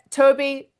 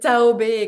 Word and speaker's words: Taob: Anise, am I pronouncing that correctly? It was not the the right name uh to uh be launching on the US market, I'm afraid. So, it's Taob Consulting. You were almost there, Mallerie.